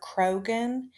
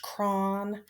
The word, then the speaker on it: Kron: to make a correction i have been calling this man dr krogan and his real name is pronounced cron so from here on out i'm going to pronounce it correctly dr kron was in